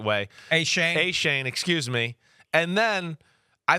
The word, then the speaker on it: Achane: Achane, excuse me.